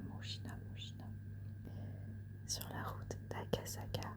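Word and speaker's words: むじな: Et du coup, en japonais, ça s'écrit, enfin ça se prononce Mushina. Mushina, Mushina, Mushina.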